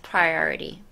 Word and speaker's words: priority: 발음 따라 해보세요. Priority. Priority 할 때 혀를 뒤로 넣으셔야 돼요. Priority 라고 하는데, 맞아요.